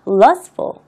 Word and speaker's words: lustful: 발음이 지금 자음과 자음 사이에 트가 있는 거잖아요. 그렇기 때문에 그럴 경우에는요, 발음이 명확하게 나지 않습니다. 그래서 lustful 이렇게 발음을 하는데 좀